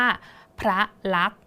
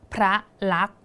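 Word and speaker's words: พระลักษณ์: ครู จะ อ่าน ว่า พระ ลักษณ์ พระ ลักษณ์ ถ้า สังเกต นะ คะ ครู จะ อ่าน ถึง แค่ ตัว ก ถูก ไหม คะ อ่า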